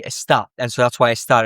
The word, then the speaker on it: está: So it follows the same thing, except the stress is on the ending for estar, for all of them. And so it's, instead of being estas, it's estas, or esta would be está.